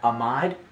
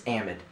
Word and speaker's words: amide: look I know grammatically you know you want to pronounce you won't maybe want to pronounce that amide in the ochem world it's Amand make sure you say it right okay sorry that's wasn't